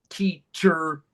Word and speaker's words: teacher: For example, doctor, teacher. Mhm. The ER, the E makes no sound. The O makes no sound. It's the R.